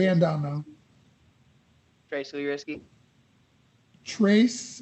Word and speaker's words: Tres: down now tracy risky trace is that how you pronounce it yeah how does it sound